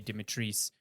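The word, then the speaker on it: Dimitrescu: the castle and Lady Dimitris, which, truth Bob, that's how you say her name. That's how they say it in the game.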